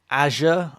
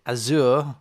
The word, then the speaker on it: Azure: it's got github linkedin azure i said azure last time it's azure i mispronounced it azure lots of lots of